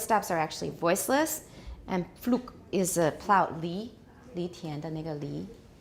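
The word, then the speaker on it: Pflug: And in this case, P is bilabial and F is labiodental, but they're very close. So, Flug.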